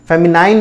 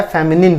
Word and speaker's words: feminine: फेमिनाइन नहीं होता है, फेमिनिन होता है।